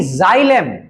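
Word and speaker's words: xylem: The leafs and Saint to the leafs bye जाइलम। And Saint to the leafs bye जाइलम। देखो board पे spelling लिखा हुआ है।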